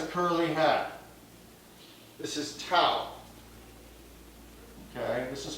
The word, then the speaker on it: tau: a towel has a curly hat this is tau okay this is pronounced tau the magnitude of the torque is the magnitude